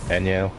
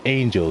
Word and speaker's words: Angel: Same thing with others like Shermie and Anyel. For so long, I used to call her just Angel because I just spell it based on how it looks.